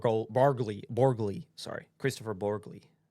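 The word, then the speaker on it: Borgli: It is an A24 film from Christopher Borg Borgley. Borgley, sorry. Christopher Borgley. I'm telling them you mispronounced it.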